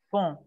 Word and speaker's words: font: La segunda, il font. Font. Más nasal. ¿En la segunda se pronuncia la N o solo la N? De manera muy nasal. Fon, fon, fon. ¿Acá? Sí, no, no, no es como si dijéramos il fon, no. Il fon, fon.